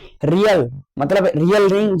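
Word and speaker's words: riel: जिसकी जो हमारी मुद्रा है वो है रियल। मतलब रियल रिंग। जैसे इसके लिए रियल पढ़ते हैं। इसकी जो स्पेलिंग होती है वो होती है आर आई इ एल।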